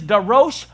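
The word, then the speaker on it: דָּרֹשׁ: And it is, but it's pronounced a little bit differently. It is Darosh Darosh.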